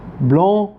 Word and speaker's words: blond: وفي النطق لاحظوا ان النطق الصفة المذكرة بيختلف عن الصفة المؤنثة. بافار، بافارد. بافار صفة مذكرة، بافارد صفة مؤنثة. بلون، بلوند.